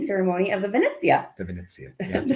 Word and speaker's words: Venezia: The Venezia. You have to say it like this. Carnival Venezia. When you say Venezia, and I think when you do the Firenze, you have to do the same thing.